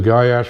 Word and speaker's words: Goyetche: do the gash protocol gy as is guy and Ash uh that's my name in case somebody doesn't know how to to say it or pronounce it that's how you do it it's really not but it's close enough um that's how I pronounce it myself but that's fine uh